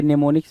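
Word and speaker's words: mnemonics: क्या, अच्छा लिखोगे मैनेमोनिक्स, मैनेमोनिक्स लिखोगे लेकिन पढ़ोगे क्या, नेमोनिक्स, तो इस चीज़ को ज़रा ध्यान देना। ठीक है, एम साइलेंट हो जाता है, तो नेमोनिक की मीनिंग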